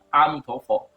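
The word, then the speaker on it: 阿弥陀佛: 至于阿弥陀佛该怎么念，其实应该念阿弥陀佛。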